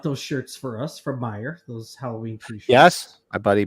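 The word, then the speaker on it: Meijer: based out of Michigan did they call it Mike Mayers or they call it Myers it's Meyer it's Meyer no joke it's Meyer with a J picked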